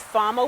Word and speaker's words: Fama: right here this is i don't know if you pronounce that fema or fama but it's fama white scabiosa it's